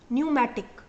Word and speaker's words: pneumatic: are called pneumatic bones spelled with a p pneumatic clear and this several